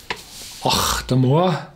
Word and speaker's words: Octomore: Octomore, it's English, and here's the pronunciation. Octomore.